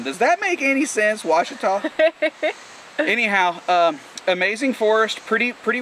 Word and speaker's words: Ouachita: this case we were google one it's uh washita washita which you know i